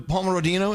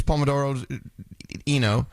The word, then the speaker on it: pomodoro: Just the pomerodino. Is that how you say it? I don't know. It's pomodoro.